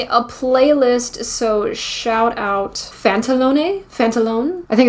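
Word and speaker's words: Pantalone: playlist so shout out phantalone phantalone I think it's fantalone I think it's a silent E so it looks like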